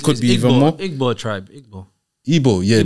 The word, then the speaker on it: Igbo: be even more tribe Igbo yeah that's that's evil but it's spelled like Igbo it's like yeah listen